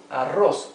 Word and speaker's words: arroz: Here we have arroz, rice. Arroz. First syllable a, later ros.